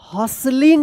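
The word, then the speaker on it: hustling: और one everyone was हसलिंग पढ़ेंगे एच यू एस टी एल आई एन जी यहां पे ये टी जो है ना साइलेंट रहेगा।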